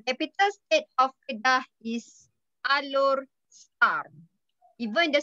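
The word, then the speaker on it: Alor Setar: So capital state of Kedah is Alor Star. Even the spelling is S-E-T-A-R. So the pronunciation is star. Star like twinkle, twinkle, little star. Okay, star. Alor Star.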